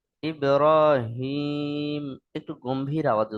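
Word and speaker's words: إبراهيم: আওয়াজে হাটা উচ্চারিত হবে অনেকবার এটা বড় হা উচ্চারণ হয়ে যায় ইব্রাহিম পড়েন তো সেটা সম্পূর্ণ ভুল। এ বিষয়টা খেয়াল রাখবেন। ইব্রাহিম পড়বেন না। ইব্রাহিম একটু গম্ভীর আওয়াজে উচ্চারণ করবেন।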